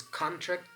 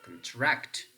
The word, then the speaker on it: contract: then you are circling whether this is contract or contract we can say I am on contract but you can say I am Contracting with my friend again here you can